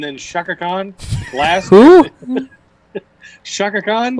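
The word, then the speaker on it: Chaka Khan: Why'd you say it like that? Shaka Khan. Shaka Khan? They had Fergie and Shaka Khan. It's Shaka Khan. He says it like a normal name, and then goes Shaka Khan.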